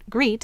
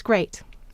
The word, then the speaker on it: great: a child learns to read great that's an exception it's not greet it's great and then we it